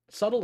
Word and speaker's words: subtle: is not dull subtle subtle is such a strange word there's like four silent letters in subtle you could say they're